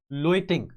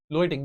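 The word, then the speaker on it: Løgting: ठीक है, again furrow islands local parliament, क्या नाम है लोकल पार्लियामेंट का, लोइटिंग, लोइटिंग जी साइलेंट है।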